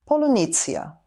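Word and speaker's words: полуниця: Polunitsya. No, it is actually pronounced "polunitsya".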